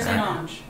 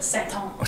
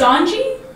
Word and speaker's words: St. Onge: Yeah, St. Onge. Or if you're really French, like Saint Onge.